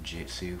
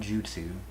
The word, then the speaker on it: Koichutsu: really like it um people always say it wrong they say Jitsu for some reason I guess that I and the J next to each other is a little confusing but um it's called Jutsu not Jitsu um and I